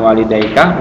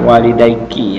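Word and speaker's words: والديكِ: Eh, maaf ini bukan walidaikah, walidaiki ya.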